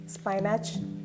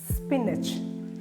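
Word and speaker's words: spinach: എന്റെൊപ്പം പറഞ്ഞേ മങ്ക് അടുത്തതാണ് എസ്പിഐ ഐഎൻഎസിഎച്ച് സ്പൈനാച്ച് അല്ല സ്പിന്നച്ച് സ്പിന്നച്ച് സ്പിന്നച്ച് അങ്ങനെ വേണം നിങ്ങൾ പറയാൻ സ്പിന്നച്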